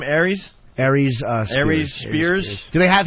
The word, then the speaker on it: Aries Spears: Aries, Spears.